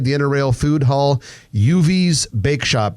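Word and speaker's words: Yuvi's: Uvi's Bake Shop. Uvi's is spelled Y-U-V-I''S.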